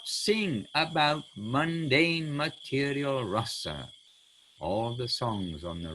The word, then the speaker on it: rasa: hope we know anyway, rasa with a long A is the rasa dance of Krishna and the gopis. Rasa with a short A is mellows. I mean, it is how it's mood, feeling, all these things.